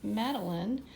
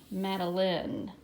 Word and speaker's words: Madeline: I do have a silent E at the end, but guess what? Like in the word fine, that silent E was making the I say I, fine. But in my name, the silent E does not do that.